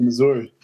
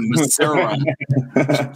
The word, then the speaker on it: Missouri: God bless your parents for driving that drive, because I used to live out in Missouri.